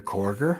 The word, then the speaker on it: Korger: his envelope, Christopher Korger, Mr. Korger, rhymes with Porger, Roger Tushfraba, Goose Fraba, Jay Moody, and Gary Broughton Jr.